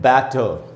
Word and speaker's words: batter: चाहिए, और वो है बैटर। इसकी स्पेलिंग है दोस्तों BATTER, बैटर। बैटर में बै में जो ए है वहाँ पर स्ट्रेस है, वहाँ आपको ज़्यादा रुकना चाहिए।